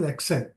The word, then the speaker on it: Excel: into the deeper Concepts let's understand what is Excel yeah now Excel is pronounced at X cell so e KS and